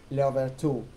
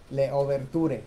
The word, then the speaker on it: Louverture: la primera vez que él se hizo llamar Leobertú. Leoberture, se escribe Louverture, así se escribe, Louverture.